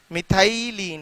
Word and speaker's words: methylene: मिथाई नील, METHYLENE, ELE, सही है, मिथाइली, हाँ इसका थोड़ा सा प्रोनाउंसिएशन अलग आ रहा है, मिथाइलीन है, स्पेलिंग सही है ये, चेक कर लिया।